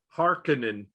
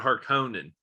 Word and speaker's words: Harkonnen: and the books right it's hearkening it's not harkonnen like if you look